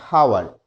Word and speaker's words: hour: For dash hour, not hour. It's hour. So the pronunciation of H is also obsolete here.